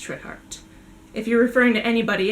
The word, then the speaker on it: Trithardt: So the way I pronounce this name is Trithard.